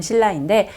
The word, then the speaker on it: 신라: 우리가 보통 신라, 우리나라 올바른 발음 신라인데 영어로 쓸 때 이렇게 SILLA로 쓰게 되니까 실제로 영어로 발음하면 약간 신라처럼 발음이 되겠죠?